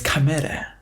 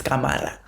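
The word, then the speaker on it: Cámara: their proper accents and not like the American way. Like I did not say Maria Gomez Camera, or whatever. Maria Gomez Camara.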